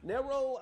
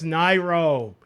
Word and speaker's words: Nairo: And Cope, Nero, the only one on that list who was doing anything in... Bro, it's Nairo, Anti, Ally.